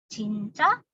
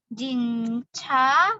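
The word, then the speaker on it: 진짜: Ca yang dipakai adalah yang double J. Tapi dibaca sebagai C. Jadi bukan lagi jinca. Bukan ya.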